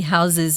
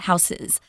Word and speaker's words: houses: while we're here that when you make house plural, guys, it's not houses, it's houses with a Z. So if you really want to be really correct with your pronunciation, that would be houses, not houses.